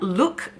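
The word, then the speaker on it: Luk: This is from Look Beauty Foods. It's spelled L-U-K if you're wondering.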